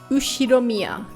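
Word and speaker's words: 右代宮: Ushiromiya. I see. Ushiromiya. Ushiromiya. Okay. That's a fairly plausible Japanese pronunciation.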